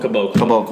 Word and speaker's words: Caboclo: Caboclo.